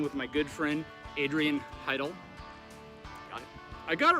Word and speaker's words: Heydel: darren i'm standing with my good friend adrian heidel i got it right there funny my good friend right i always mispronounce his last name and he drives him